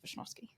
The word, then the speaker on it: Wishnowsky: Wishnowsky. Wishnowsky. Yeah. Wishnowsky. And Okay. if you hear a European say it, they'll say Wishnowsky. With Wishnowsky. like a V.